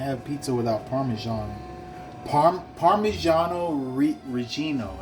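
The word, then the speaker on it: Parmigiano Reggiano: pizza without parmesan par parmesano re Regino I think that's how you say it properly it's not Parmesan Parmesan is how Americans say it so I'm going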